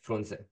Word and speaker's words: Frunze: I just say Frunze in English. So you pronounce the Romanian E? To sound like in Romanian to sound like Frunze. Oh, as a short E. Like Frunze.